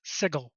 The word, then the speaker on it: Sigil: to correct you there apparently it is canonically pronounced sigle yeah yeah I did I I I I